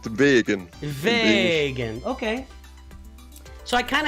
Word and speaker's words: Vaeggan: Yes, and it's pronounced Vaeggan.